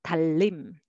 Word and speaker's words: 달님: 달님 together, 달림, 달림.